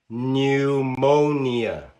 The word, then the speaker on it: pneumonia: There are also words spelled with the letter P that are unvoiced. For example, pneu monia.